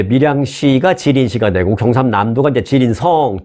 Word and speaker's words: 지린성: 길림성. 길림성이라고는 우리가 옛날에 많이 들어봤죠. 네, 그 길림성이 한국식으로 발음을 한 거고 중국식 발음을 하면 지린성입니다.